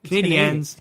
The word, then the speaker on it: Canadiens: How do you say it? Canadians? Canadiens. Canadians. It's, in French, whatever. But What are you going to ask him if I get him on the phone, Caden?